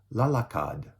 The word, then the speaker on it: lalakad: In the future tense, so will run, will walk, will choose, right, are pronounced tatakbu for will run, lalakad for will walk, and pipili for will choose.